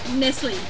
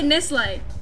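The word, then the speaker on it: Nestlé: Nestle. Yeah, Nestle. Really? Yeah, the proper way. We say Nestle. Why would you go Le? It's not French. Because that's what it is. It's not Nestle.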